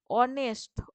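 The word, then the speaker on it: honest: ও এন ই এসটি এখানে এইচটা উচ্চারণ না কি উচ্চারণ হয় অনেস্ট অনেস্ট বলছি আমরা অ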